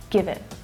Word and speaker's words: give it: And notice how it's unstressed, so it reduces down to the schwa sound, give it. And also that T is a stop T, which means that I'm not fully pronouncing it. I'm not letting the air go afterwards. I'm not saying give it, but give it, give it. So it's stopping, I'm not releasing the air.